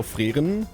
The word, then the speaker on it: Frieren: People were getting on my shit too about how I pronounce the show Frieren. They're like, oh, you're being so pretentious. I'm literally German. That's just how I say that word.